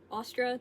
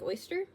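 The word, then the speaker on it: Ostara: Happy Ostra to all of my other pagans. My mom keeps pronouncing it differently. She keeps pronouncing it like oyster. I pronounce it Ostra.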